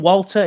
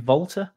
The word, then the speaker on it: Walter: fair enough obviously Tim Walter is that how you pronounce it I think being German might be vter yeah it's vter yeah Tim vter so